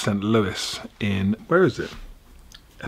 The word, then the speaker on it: Saint Louis: those of you screaming your screen saying it sent louie you're wrong because that's what i used to call it before i went there and it's actually pronounced saint louis in where is it i think it's illinois